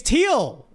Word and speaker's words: Thiel: Actually, I'm going to look it up to pronounce it. I pronounce it differently every time, even though I know. I'm like on the spot on stream, so it's hard to get it right. Okay. It's Thiel.